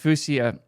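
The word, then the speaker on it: Fuchsia: I know it's supposed to be pronounced Fouseia or Fouseia like the color.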